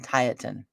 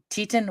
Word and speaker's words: Tieton: lived I lived in I live in tietan you get on the phone pH and they're like you live in Tieton Washington I'm like yeah tight that's the